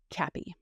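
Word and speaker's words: CAPI: All I know is it looks like C API, but they pronounce it Cappy.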